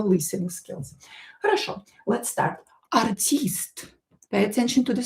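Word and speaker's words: артист: Artist. Pay attention to the stress. The stress is different from English. In English we have artist, so I stress. In Russian i is stressed.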